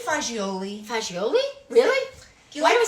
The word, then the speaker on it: fagioli: Can we say fagioli? Fagioli? Really? Why do we say Do you fagioli? guys, take a poll. Do you guys like Cappy. fazool? Pasta fagioli.